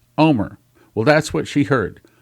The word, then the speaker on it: Olmert: Now, you spell his name Olmert, but I've been to Israel. I've heard it pronounced in Israel by several people there, and in Israel it is pronounced Omer.